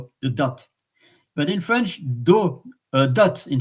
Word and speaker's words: dot: It's one of the rare words in French, dot, that you are pronouncing the letter at the end.